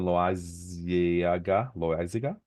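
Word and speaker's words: Loáisiga: Yeah, Clay Holmes, Jonathan Loaiziga. I don't want to say Loaiza because that sounds like Esteban Loaiza. I think I've heard that pronunciation.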